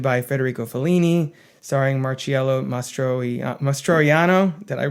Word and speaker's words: Mastroianni: Mastroianni.